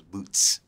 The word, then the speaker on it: Boot$: I do hear boots they forget the S because because the dollar sign what it say boot I'm like telling those boots with the S dollar